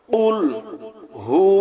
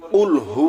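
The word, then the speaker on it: قُلْ: গলার ভিতর থেকে কফ গলার ভিতর থেকে উচ্চারণ হবে একটা হলো কফ আরেকটা আছে কাফ এখানে আমরা যদি সঠিক উচ্চারণ করি কুলহু আল্লাহু আহাদ তাহলে সঠিক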